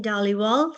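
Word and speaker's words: Dhaliwal: Uh, Daliwal, spelled M I N I E. Last name is spelled D H A L I W A L.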